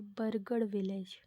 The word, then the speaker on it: बरगढ़: Pronunciation मेरी थोड़ी गलत हो गई, वो है बरगढ़ विलेज।